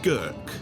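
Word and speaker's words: Grk: Cortula is a very fertile island, and these are the vines that make the grapes for the famous Gurk, the local white wine. It's spelt G-R-K.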